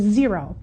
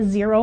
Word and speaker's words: Xero: fourth one I want to talk about is zero and zero is spelled x-e-r-o we do use zero a little